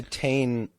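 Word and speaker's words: Titane: That's actually how you pronounce it. It's a French word. Titan.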